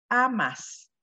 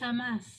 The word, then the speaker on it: amas: Tú, y entonces va a ser amas. Nada más que cambia la sílaba tónica, ¿verdad? En Argentina, Nancy. Sí, es amás. Amás, ¿no?